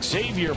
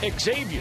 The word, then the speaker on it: Xavier: If you notice, we called him Xavier Paul. He finally let everybody know after we had Xavier night here last night that his name is actually pronounced Xavier.